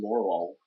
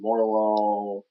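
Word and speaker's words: Morelull: It's spelled Morel, like the mushroom, and then with an extra UL. I thought it was Morlul. But yeah, it likely is reference to lull being to lull to sleep.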